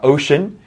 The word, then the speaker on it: ocean: is ocean okay uh ocean um is an important word the sea becomes like ocean ocean okay ocean